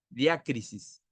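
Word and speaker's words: διάκρισις: La palabra discernimiento en el griego se llama diácrisis, con acento en la A, con K, diácrisis.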